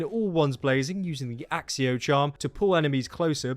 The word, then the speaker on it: Accio: as Incendio, Descendo, Petrificus Totalis, Avada Kedavra and Axio, I'm going to pronounce it that way because that's what Stephen